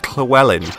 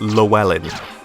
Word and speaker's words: Llewellyn: like sort of like imagine it's a TL sound rather than ll sound like Chloe 'ln just